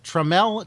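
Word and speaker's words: Tramel: to mention uh because treml Technology founded Jack tremell has founded treml technology limited now it's spelled t r a m l this was something they were hoping people would Now Pronounce it properly uh check out my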